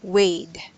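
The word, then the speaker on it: weighed: So this is a word way, but we added D or ED, so it should be pronounced Wade.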